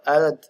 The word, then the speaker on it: Arad: in trying to reach my goal, going from Arad, or Arad as you pronounce it, to Bucharest.